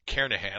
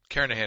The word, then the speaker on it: Kernighan: the Kernighan and Ritchie or Kerr Nahan I should say that G is silent Karen ahead and Ritchie C programming